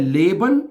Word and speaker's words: leben: एक वर्ब है लेबन, जिसका मतलब होता है टू लिव, रहना। समझा रही बात आपको ना? एक वर्ब लेबन है, वो उसका स्पेलिंग है LEBEN। ये लीबन है, ओके, जिसका मतलब होता है पसंद करना किसी को, टू लव, टू लाइक है।